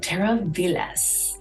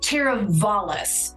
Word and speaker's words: Teravalis: check out this new community called Terra Villas all right guys the real name is actually pronounced teravalis what exactly does that